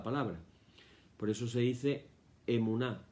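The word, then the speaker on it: אמונה: La palabra en hebreo es emuná, E-M-U-N-A-H, emuná.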